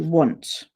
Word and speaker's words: once: a cup of coffee once okay it's tricky because if phonetically you did it you'd go were oh wouldn't you and it's not at all okay so that's why